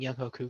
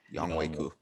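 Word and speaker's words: Younghoe Koo: So I do think Young Hoku gets a lot of opportunities. So I do want to say that it's Young Wei. It's pronounced Young Young Wei. Young Wei Koo.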